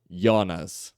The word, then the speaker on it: Jonas: não vem desse cara a gente fala Jonas né mas para quem já assistiu dork por exemplo o personagem principal né E aí você pega a pronúncia lá do do Alemão Jonas Jonas tá E aí vem